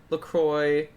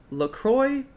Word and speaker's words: LaCroix: where to buy find Lacroix ha ok how do you say this word what business no little Lacroix or look wha what is it it's Lacroix but ironically we say Lacroix ok so what is